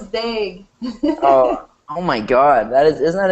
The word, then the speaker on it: Dague: Is that how you say it, Dague? No, it's Dague.